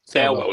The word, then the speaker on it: Thelwell: Thelwell, that's how you pronounce it.